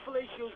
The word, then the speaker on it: Flaccio: I'm dead serious when I say Fellatio's gonna make it big in this world. So, Flaccio is pronounced fellatio, which is kind of funny.